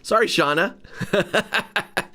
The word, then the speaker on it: Shauna: Oh, it's Shauna. Okay, sorry, Shauna.